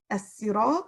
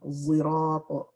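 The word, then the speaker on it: الصراط: The word as-sirat is pronounced with a sin. It can also be pronounced with a sad, sirat. It can also be pronounced with the sad zay combination, zirat.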